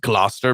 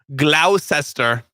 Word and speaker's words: Gloucester: devised by Kevin Hillman, development manager at Wall's Gloucester factory. It's not how it's spelled. It's pronounced Gloucester, but it's spelled Gloucester.